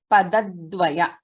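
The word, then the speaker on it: पदद्वय: Padadvaya, we should pronounce it as padadvaya.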